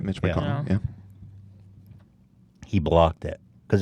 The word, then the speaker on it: McConnell: You said it right, Mitch McConnell.